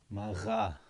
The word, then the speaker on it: maga: So here, you'll notice when you say it like that, maga. You hear the tiny little pause.